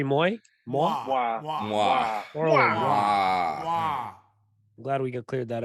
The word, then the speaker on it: Toro y Moi: Toro Y Moi. I'm glad we cleared that up. Round one. It's pronounced Neek the Freak.